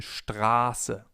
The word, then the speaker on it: Straße: If we have a sharp S, the vowel sound before the S is long. For example, in Straße, Straße, or ich heiße, ich heiße. The vowel or diphthong in this case is pronounced long, Straße.